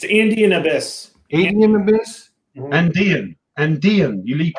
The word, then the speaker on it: Andean Abyss: How do we pronounce this? It's Andean Abyss.